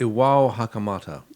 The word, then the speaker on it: Iwao Hakamata: You spent some time in Japan, so how do you pronounce this lovely man's name? Iwa I think Hakamata? it's Iwao Hakamata.